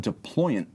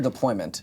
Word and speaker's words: deployant: Now, another element that I really like is that they give you a deployant clasp. And you can see it's a trigger-style release. Deployant or deployment? Deployant. Deployant.